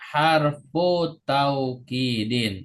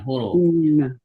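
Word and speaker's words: حرف توكيد: bacanya Inna I cara bacanya harfu taukidin bukan huruf tapi harfu harfu taidin kalau kalau dibaca huruf itu setelah huruf itu ada wunya ya jadi Mohon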